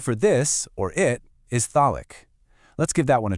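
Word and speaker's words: ذلك: The word for this, or it, is thalik.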